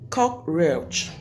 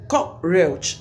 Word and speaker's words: cockroach: That word is pronounced as cockroach. You lay emphasis on the first syllable, which is cock. Cockroach. You don't pronounce it as cockroach or cockroach, whatever.